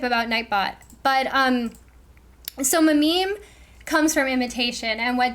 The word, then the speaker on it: meme: sounded like gene and so he wanted a mono syllable that sounded like gene and jean and meme rhyme he denoted that it should rhyme with cream and examples of memes